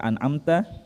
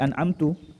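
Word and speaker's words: أنعمت: contoh misalnya kesalahannya ya kata an'amta ya dibaca menjadi hantu ya kesalahan ini merubah makna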